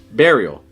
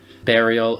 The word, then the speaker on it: burial: Burial. Burial, and I would say to bury, but I've heard plenty of people say burial. Yeah, I would say bear. Like berry. You can eat a berry.